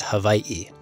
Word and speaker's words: Hawaii: weigh what so the proper pronunciation is Hawaii actually it's very common for people to say Hawaii and even in Hawaii